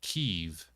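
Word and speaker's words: Kyiv: Kiev is how you pronounce it if you're Russian. Kev is how you pronounce it if you're Ukrainian.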